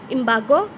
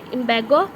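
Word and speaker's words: embargo: इमार्गो। इमार्गो नहीं है। Are silent है इ्ंबगो बैन ऑब्स्ट्रक्शन सीज बैरियर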